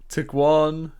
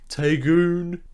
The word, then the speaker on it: Tiguan: The ID4 is an electric SUV and it looks very similar to the VW, I've never been able to pronounce this, what was it, Tiguan? Taygun.